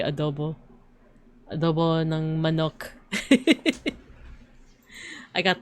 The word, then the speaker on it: adobo: Like I say adobo, but it's like supposed to be adobo.